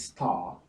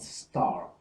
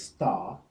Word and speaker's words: star: in this case so it is star not star as it'll be in the American English so it's star mark car park and